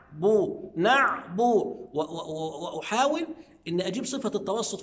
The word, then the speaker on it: نعبد: نيجي عند كلمة نعبد، بعض الناس ينطقها خطأ فيقول نعبد، لا. طب أنا بسألك، هي الباء مكسورة ولا مضمومة؟ حضرتك هتجاوبني تقول لي مضمومة، يبقى أقول نعبو، وأحاول إن أجيب صفة التوسط في العين، نعبو، يبقى الباء إيه؟